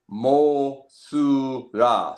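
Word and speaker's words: モスラ: The actual pronunciation of the character is Mosura.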